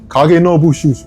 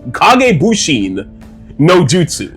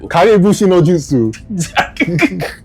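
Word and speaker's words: Kage Bunshin no Jutsu: Kag noushu. I know I butchered that name. Kag noushu. It's kag kagushin nojsu. Kagushin nojutsu.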